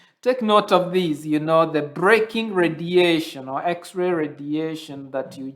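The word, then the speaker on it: Bremsstrahlung: And so it's pronounced as braking radiation.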